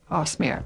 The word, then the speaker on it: Cosmere: Cosmere, right.